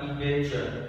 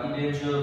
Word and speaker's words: indenture: Ok, vậy thì đằng sau là ư đọc là indenture, vậy không vào cái thứ ba. Cái trường hợp đầu tiên là in thì là tiền tố, vậy vào thứ hai indenture.